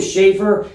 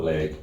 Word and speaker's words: Leigh: Do you pronounce that Leigh at all? I had No. confusion with it when I saw it, because it's No. like sleigh, but with We'll take Vivian Leigh. the S isn't there. Or And Leigh. some people don't even know how to pronounce it, call it leg.